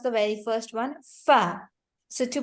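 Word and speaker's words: ف: So what you guys have to do is you have to join the, what do we say? The edges of your front 2 teeth, the corners, to the wet part of your lower lip. Join it and then pronounce fa. It is also going to be with the F sound.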